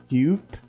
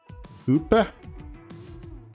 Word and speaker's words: Hupe: In German, you say the E at the end. Hupe?